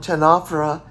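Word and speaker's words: ctenophora: individual of the phylum 10 opera is a 1004 you know spelled c t e n o p h so what do you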